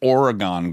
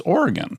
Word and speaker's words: Oregon: you to say it, like we said Oregon growing up in Michigan, but then I learned it's Oregon. Everyone in Michigan says Oregon, the Oregon Trail.